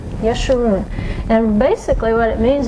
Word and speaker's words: Yeshua: of your mouth like israel the name was yeshua yeshua that is not a name that's just easy to say we hear a lot of mispronunciations of it but it's yeshua yeshua and basically what it means is to be